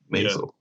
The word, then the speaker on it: Maisel: I might be saying his name wrong, but he's currently in the show The Marvelous Miss Maisel or Maisel. Maisel.